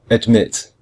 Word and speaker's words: admit: for example we say we say admit we don't say admit